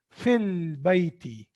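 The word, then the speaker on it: في البيت: In the same way, ba is qamariya from huruf al qamariya. So lam is pronounced here. Fil bayti.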